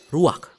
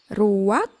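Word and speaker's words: רוח: Kata dalam bahasa Ibraninya adalah ruach. Ruak? Ya, benar. Tenggorokan kita harus benar-benar bersih di akhir pengucapan.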